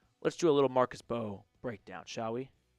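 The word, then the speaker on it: Mbow: Let's do a little Marcus Bow breakdown, shall we? I know it's pronounced Bo, so All right.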